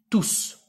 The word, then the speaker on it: tous: Il s'écrit tout au masculin pluriel, le S s'entend à l'oral. On dit tous.